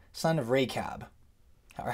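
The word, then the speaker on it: רכב: way, Jonadab, son of Rechab. Or how would you say it? in Hebrew, I'll show you the Hebrew here. It's Yonadav ben Rechav. That's how you say it in Hebrew, Yonadav ben Rechav.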